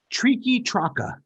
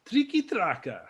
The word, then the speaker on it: Triqui Traca: Tonight's cigar is let me make sure I'm pronouncing this right. Triqui Traca. Triqui Traca.